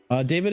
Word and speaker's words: Deivid: So he was basically contradicting Santi JFM essentially, because Monaco apparently have the first refusal to Is it Deivid or is it David? It's David. Okay, it's just all David.